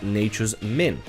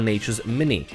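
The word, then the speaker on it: Nature's Minne: And last but not least, you also have Nature's Min or Nature's Mini. People tell me it's pronounced different ways, I just pronounce it as Nature's Min.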